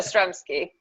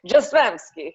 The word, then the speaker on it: Jastrzębski: So it's phonetic, so all the consonants are pronounced. Okay. So Jastrzębski. Or you could say it Jastrzębski, like that, but it's not Italian.